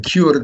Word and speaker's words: Kurd: That's the way you pronounce the word, by the way, Kurd.